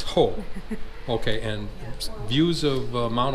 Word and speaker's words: Hoh: a Rachel Ranger Rachel first I need to know how to pronounce the river hole okay I've been calling it hack its hole okay and views of